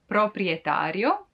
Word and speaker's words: proprietario: The owner is called proprietario, proprietario.